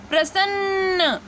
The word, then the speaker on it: प्रसन्न: तो यहाँ पे देखिए, यहाँ पे ये जो बिंदु आ रही है और जो इसका प्रोनाउंसिएशन हो रहा है वो प्रसन्न, तो सन्न आ रहा